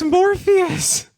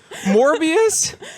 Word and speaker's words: Morbius: I'm saying it wrong. What is it? What's Morpheus? Morbius?